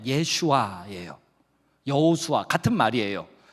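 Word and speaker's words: ישוע: 똑같은 이름을 차용하고 있어요 그거를 히브리어 발음으로 하면 예슈아 여호수아 같은 말이에요 그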